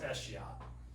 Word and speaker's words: escheat: The term is pronounced eschiat, but I like to say cheat so you can remember it, right?